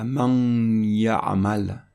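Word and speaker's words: مَن يَعمَل: Dans cet exemple, pour l'assimilation entre man et ya'mal, on ne va pas prononcer man ya ou maïya, on va prononcer man ya ou man ya'mal.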